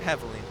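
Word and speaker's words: Havoline: Did I pronounce that right? Yep, Haviline.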